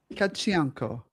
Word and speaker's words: Tkachenko: It's Mila And pronounce Mila, your last yes. name for me. Tkachenko. Tkachenko.